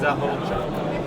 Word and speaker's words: Zahorcak: surname I think it's Zahorcak. is no? Nice pronunciation.